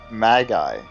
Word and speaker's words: Magi: It's Magi, dude. Hold on, I want to see what he says. Is it Magi? Yeah, word Magi. That's... Hey, trade words is like a I say Magi.